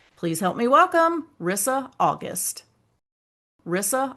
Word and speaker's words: Risa: Well, my name is Rissa, but it's spelled with one S, and that always messes people up.